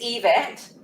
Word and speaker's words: Yvette: a bit oh yeah you probably did it's event um but that's okay i take almost anything